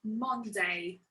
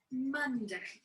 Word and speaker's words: Monday: monday monday monday so i know it's an o in the first syllable but we don't say monday monday but it's monday monday the second one is